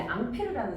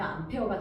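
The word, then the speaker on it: Ampère: 요거는 이제 이 사람의 이름이 원래 앙페르라는 사람이야. 근데 저걸 이제 영국식 발음으로 하면 암페어가 되는 거고, 그래서 A 저 사람이 이제 앙페르라는 사람이 저기에 대한 단위를 이제 설정하고 암페어를 쓰게 되는데요.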